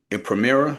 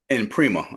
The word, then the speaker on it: Emprima: And is it premier? Is that how you pronounce it? And prima. Emprima.